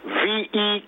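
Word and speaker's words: Vieux: advertisement with a word v k or something ve ve all right I'm very passionate about that the word is pronounced V that's how it's pronounced so that would lead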